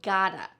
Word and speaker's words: gotta: It is I have got to becomes I gotta. Sometimes in spoken English, we might say I gotta, or I have gotta, or I got to. There's many variations of this, but the most reduced version, and I would say the most commonly used version, is I gotta.